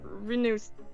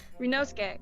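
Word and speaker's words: Ryunosuke: Excellent work, Renus. How did I pronounce that yesterday? Renosuke.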